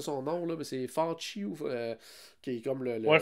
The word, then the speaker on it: Fauci: Le docteur, je me souviens jamais comment prononcer son nom, là, mais c'est Fauci, qui est comme Ouais, Fauci, c'est ça.